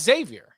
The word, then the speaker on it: Xavier: I think no, it's Xavier. It's Xavier. Okay, now there are some recruits who pronounce the X.